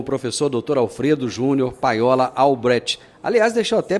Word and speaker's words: Albrecht: Ele vai soletrar aqui, porque às vezes o pessoal vai procurar Alfredo Alberto. Não é Alberto, não, é Albrecht. Como é que escreve esse Albrecht seu?